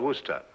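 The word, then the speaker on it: Worcester: something else too doc but it's spelled w r c e s t e r where sister oh yes I see yes Lord Worster mhm his M be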